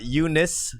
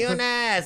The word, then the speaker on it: Eunice: Hey, Eunice. I made lemonade. Yeah. If you're supposed to phonetically, read it out, it comes out to you nice.